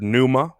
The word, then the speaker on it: pneuma: Greece yeah in Greek the word pneuma which has a silent p at the beginning can mean breath spirit